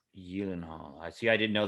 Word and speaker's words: Gyllenhaal: this on uh conan jake gyllenhaal that's not actually how you pronounce gyllenhaal but gyllenhaal just sounds better it's in swedish it's eden hall young hall i see i didn't